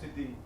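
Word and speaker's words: siddhi: So it's a skill, it's a CD, we call it in how do you actually pronounce it? Use a CD, a power? A CD? S-I-D-D-H-I? Oh, CD.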